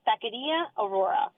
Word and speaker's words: Taqueria Aurora: are fine yes so the restaurant name is takaria Aurora Tak takaria okay takaria Aurora okay yeah that's good